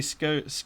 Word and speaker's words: scone: so there is that I say scouts gone to rhyme with gone fair enough Colin P